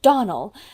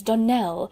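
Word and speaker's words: Donnell: you pronounced our name Donald now Miss Shirley the correct pronunciation of our name is Danelle Accent on the last syllable I hope you'll remember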